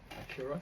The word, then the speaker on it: Accura: Accura, that's right.